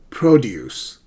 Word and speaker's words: produce: So produce is a noun. Produce, as bananas or apples, right? They are produce. Produce versus produce. It's a verb.